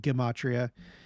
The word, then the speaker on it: gematria: It's supposed to be pronounced gematria. I've made that mistake. I was corrected though.